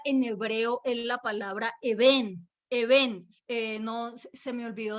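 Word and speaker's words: אבן: Es la palabra eben, B larga, E-N, eben. Eben, así se escribe piedra en hebreo, ¿listo?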